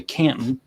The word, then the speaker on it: Canton: she had moved to Canton that's how they say it there Canton it's like it doesn't have a tea in it following a request from